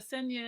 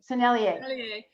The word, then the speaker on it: Sennelier: The Seigneur, how you ever say it right? Sennelier. Sennelier.